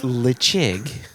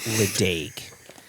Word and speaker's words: Ledaig: Lechig, or lechig, some people say lechig. What it isn't, what it clearly is not, it's not Ledaig.